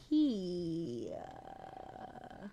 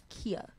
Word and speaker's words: Kia: It's pronounced Kia. How is that? Kia. Kia Roses. Kia Roses. Kia Roses. And we're about. No, it's Kia, but his song is Roses.